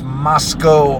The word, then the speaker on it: Moscow: have to go to Moscow which is spelled like Moscow you know like Moscow Russia only thing is this Moscow Idaho the W is silent oh I appreciate the